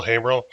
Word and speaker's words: Haimerl: My name is Haimerl. It's pronounced hey to a guy named Merle, right?